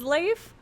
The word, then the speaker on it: Leif: Leaf, do you say Leaf or do you say Leif? I say Leaf. I believe the correct pronunciation is Leif, right?